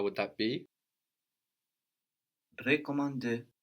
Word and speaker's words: recommander: Recommander. Good, but also the first E is more like je in this case.